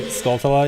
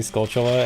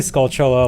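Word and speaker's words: Skulltula: I still say scultula even though I know it's supposed to be scaltula and then people every every now and then I get called out for it and I'm like I don't care. I'm I'm going to say it the way I've been saying it for too long. I will never change how I pronounce. Yeah, it's supposed to be scaltula like tarantula.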